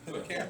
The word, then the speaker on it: cairn: Is that how you pronounce it? Like a pile of rocks? Yeah, Karen, yeah. Sure. Sure. Sounds Karen, like Karen.